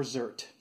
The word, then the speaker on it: zerk: filled made sure that our zerk or zert depending on how or who you pronounce this little it's just a grease zerk or zert and screw that in